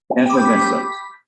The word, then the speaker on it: effervescent: Effer is easy, but उसके बाद का pronunciation थोड़ा ध्यान दीजिए। Fatima, Anita and Krishna, correct? Effervescent.